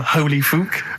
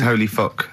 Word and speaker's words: Holy Fook: Please, can we have more Holy Fook? You're not pronouncing it right, Steve. I know. I was just a bit edgy there. It's Holy Fuck, the little Chinese fella.